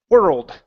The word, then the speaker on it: world: world that's it world it's just like hurled but with an with a W at the beginning okay so you don't want to pronounce an O the O is incorrect it's ER world okay okay good um